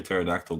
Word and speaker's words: pterodactyl: can't you hear a pterodactyl go to the bathroom I don't know you tell me because the P is silent they're all bad okay